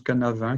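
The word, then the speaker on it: Cynefin: beaucoup une méthode que qui se prononce quant à 20 qui s'écrit signer fin que la méthode cannes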